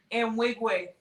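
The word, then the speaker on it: Nwigwe: Wigway.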